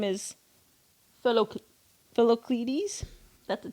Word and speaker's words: Philoctetes: His full name is Philocletes. That's a T. Philocletes.